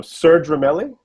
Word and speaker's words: Serge Ramelli: So, Serge Ramelli?